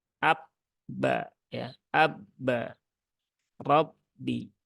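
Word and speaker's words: رَبِّ: R Abba Ya Abba Rabbi Ya bukan RAB rbi tapi Rabbi ya nah jadi dia tidak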